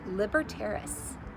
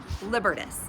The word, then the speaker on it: Libertas: Also, the Statue of Liberty is based off of a Roman goddess named Libertaris. Libertaris. Let me look. Oh, Libertas. I wanted to make sure I tried my best to pronounce it right.